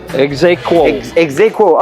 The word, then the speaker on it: Exaequo: little bit more about uh how do you pronounce it EXA exeo exeo okay exeo okay okay so the history of